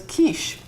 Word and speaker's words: quiche: And the Germans called it Kuchen. And the French, in the way they pronounced it, was quiche.